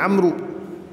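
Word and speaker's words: عمرو: ini mirip sebenarnya namanya cuma karena Amru itu setelah ada huruf wow Jadi bacanya Amru tetapi ternyata jawabannya Allah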